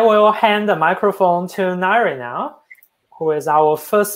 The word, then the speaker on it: Ngaire: So yes, as Lennon said, my name's Ngaire. You probably saw it spelled, it's a bit wacky, but it's pronounced kind of like diary, you know, if you